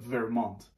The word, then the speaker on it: Vermont: حالا درسته که میگیم ورمانت، اون اصلا تی نیست، ولی از این دوتا لغت فرانسوی ساخته شده. حالا به چه معناست؟ به فرانسوی میگن ورمان. حالا امیدوارم تلفظشو دوستایی که فرانسوی میدونن تلفظشو درست گفته باشن.